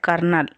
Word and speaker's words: colonel: Now he was in love with a girl called Laura Merton, who was the daughter of a retired colonel. So you have to pronounce here Colonel as colonel, a daughter of a retired colonel.